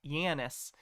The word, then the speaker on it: Janus: It's named after the Roman god Janus, pronounced Janus, the god of doorways and passages.